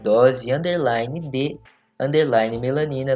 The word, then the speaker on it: Dose D Melanina: Instagram, tanto no Twitter, como @dose _de_melanina, lembrando que o D é mudo, vai lá, interage com a gente.